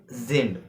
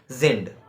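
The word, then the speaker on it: sind: German if we say then uh we said zind uh for for R right means R in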